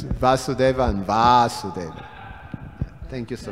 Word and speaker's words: Vasudeva: yes pronunciation yeah well our our our Sanskrit pronunciation is pathetic yes it's Vasudeva and varsity thank you so much Karen terashima